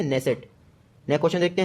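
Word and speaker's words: Knesset: और इसकी जो संसद है उसका नाम है नेसेट। के से स्पेलिंग शुरू होती है, नेसेट।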